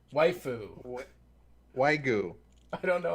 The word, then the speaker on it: waifu: And apparently I pronounced waifi wrong. Waifu.